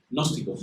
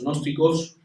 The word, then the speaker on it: gnósticos: secta de los gnósticos, gnósticos, empieza por G, pero bueno, no pronunciaremos la G, que es muy difícil.